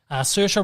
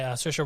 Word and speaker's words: Saoirse: Saoirse Ronan, who's great as well. I can never work out how to pronounce her name.